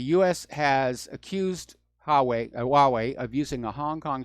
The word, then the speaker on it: Huawei: pronunciation about that Chinese cell phone manufacturer it's pronounced Huawei and apparently the CFO Ming Wang Yao has